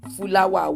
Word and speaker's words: fúláwà: Fúláwà wa. Fu now, not flower. It's fúláwà.